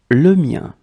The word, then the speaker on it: le mien: Okay, so let's see how they are and how to pronounce them. Mine, le mien.